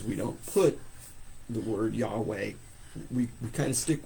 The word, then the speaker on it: Yahweh: could you mispronounce it because we don't know what vowels were supposed to be in between those consonant we we guess and it's traditionally spelled YH w a h y w yeah yeah W uh Yahweh we Sorry YH we uh is how it's usually spelled and that's very possible and so the pronunciation would be yah way but uh the the